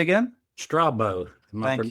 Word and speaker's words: Strabo: Strabo. Am I Thank you.